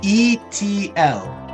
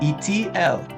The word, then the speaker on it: Eitiel: By the way, if you're wondering how it's pronounced, if you didn't know it, that's Goldwicht. That's not witched. Goldwicht, and it's Eitiel. Eitiel.